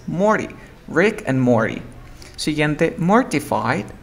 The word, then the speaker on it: Morty: Se escribe Morty, pero tú dices Morty.